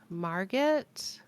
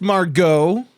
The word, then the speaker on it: Margit: I think we killed Margit. I think that's as far as I believe it's pronounced Margot.